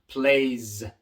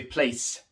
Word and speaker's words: plays: Plays, plays. No se dice place. Al decir place, estás cambiando la palabra por completo. Ahora estás diciendo lugar. Place con C, pero no. Plays, así se pronuncia.